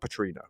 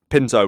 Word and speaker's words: Pinto: Petrino, is it? It's not Petrino. Yeah, no, it's not. Okay, right. Pinto, right.